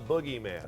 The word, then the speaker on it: Bookgeyman: - nailed it there alright check out the boogieman and that is the correct pronunciation it is the boogieman actually at a bookstore near you